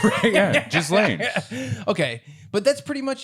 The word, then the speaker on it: Ghislaine: Why would you tell him how it's actually pronounced? Yeah, Ghislaine.